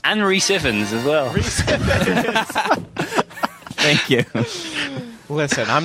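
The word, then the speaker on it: Rhys Ifans: goes to Rise Iphans. And Reese Iphans as well. Reese Iphans. Thank you. Listen, I'm not good at pronouncing English names.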